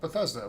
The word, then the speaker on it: Bethesda: I thought they were fantastic, and I thought Bethesda was pretty good. So, and by the way, it's pronounced Bethesda, not Bethesda, as if you listen to years past, you might be confused.